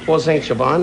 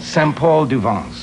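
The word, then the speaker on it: Saint-Paul-de-Vence: We went up to Paul Saint-Gervain. Is that how you say it? No, it's called Saint-Paul-du-Vence.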